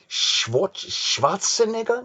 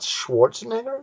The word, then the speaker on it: Schwarzenegger: have these W and the Germans have the W this vise Miller Schwarzenegger not Schwarzenegger no his real name is Schwartz he's an Austrian right so Schwarz with the roaring of rolling or Schwarzenegger yeah and I don't